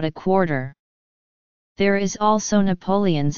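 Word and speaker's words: Napoleones: There is also Napoleon's again with all the vowels pronounced, a millefeuille pastry stuffed with a sweet milk-based filling.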